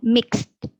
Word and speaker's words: mixed: And then mixed. T at the end.